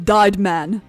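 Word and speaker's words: Deid Mann: The victim, Mr. Dyed Man, Is how it should be pronounced. In German, the second vowel says its name.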